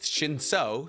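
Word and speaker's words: Shinsu: Well, one, it's pronounced Shinso, so let's get that straight.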